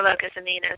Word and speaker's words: Locus Amoenus: So I prefer Locus Amoenus.